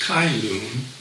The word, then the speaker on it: Cai Lun: It was invented by this guy, Cai Lun, sometimes pronounced Kai Lun, in 105 AD.